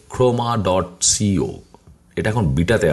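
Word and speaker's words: Khroma: সো এটা গেল writer, ওকে, আরেকটা আমি দেখাবো তোমাদেরকে, সেটার নাম হচ্ছে, এটা একটু উচ্চারণ করাটা খুব টাফ, হ্যাঁ, এটার নাম হচ্ছে ক্রোমা, কে এইচ আর ও এম এ, ক্রোমা ডট সিও, এটা এখন বিটাতে আছে, এখানে যে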